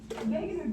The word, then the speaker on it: Wegener: No, it's Wegener. After Wegener. Wegener. Wegener. Oh So yeah. it'll tell you, see right here, pronounce, that's Pangea.